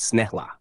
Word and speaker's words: snälla: 1, please, snälla, pronounced snälla.